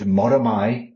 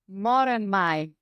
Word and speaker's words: Moramai: technically Manx Gaelic, and Moramai is how you say good morning to each other in Manx. Moramai. That's right. But don't Yeah. look at the spelling. The spelling is incredibly confusing.